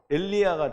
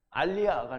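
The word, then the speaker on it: אַלְיָה: 이거를 제대로 읽으면 엘리야가 되는 거예요. 엘리야. 근데 이거를 빨리 읽으면 알리야가 돼요. 알리야. 엘리야, 올리야라고 썼네. 그래서 어쨌든 발음 자체는 엘리야라고 하는 사람의 이름과 스펠링은 똑같아요. 근데 읽기는 알리야라고 읽어요.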